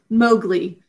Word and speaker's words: Mowgli: And we're going to mark it according to the way we pronounce it and the way it's commonly said, Mowgli. So what else should we do for this phonogram? Thinking cap. Close. Okay, what are the sounds? Ow, O. And we say Mowgli.